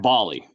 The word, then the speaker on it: Bally: trying to figure Bailey and baile it's actually pronounced Bali clearing that up thank you for coming